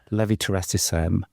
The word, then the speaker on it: levetiracetam: the syringe driver, and the best way to pronounce it is to think of the tune Nelly the Elephant. And if you say levetiracetam to the tune of Nelly the Elephant, you'll always say it correctly.